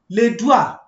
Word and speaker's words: doigts: Les doigts. You discover that I don't pronounce the last consonants.